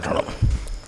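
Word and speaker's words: ఉంగరం: The original pronunciation of Ungaram is Angaram.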